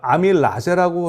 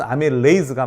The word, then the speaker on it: 아밀레이즈: 그런데 요즘에 보면은 에이즈 그러니까 아밀라제라고 하는데 아밀레이즈라는 것도 많이 보실 수 있을 거예요. 그럼 왜 그러냐면 영어 발음은 아밀레이즈가 맞아요. 과거 교과서에는 아밀라제로도 나오거든요.